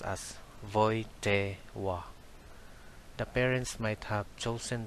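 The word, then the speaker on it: Wojtyła: the pope is carol w is pronounced as v and l is pronounced as w that's why the family name of carol is pronounced as voite wa the parents might have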